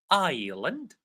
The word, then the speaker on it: island: So ni, the K is silent. Ni, our, island, climb.